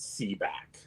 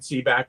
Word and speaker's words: Sebak: hack and see back i realized my real name is c back okay i mean a nickname seebach is my name and uh my catholic